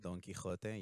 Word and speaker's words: Don Quixote: So, good attempt at pronouncing that, Daniel. Don Quixote.